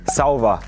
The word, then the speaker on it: sauwer: ich denn da sagen sauber einfach nur ein Wort ja sauber sauber sauber mit WE mit we quasi von sauber wenn jemand was gut